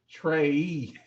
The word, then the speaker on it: Trae: It's like no, it's pronounced Trey. Trae.